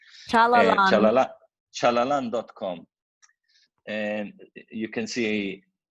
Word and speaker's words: Chalalan: them the resource, but the name is Chalalan, phonetically. Chalalan.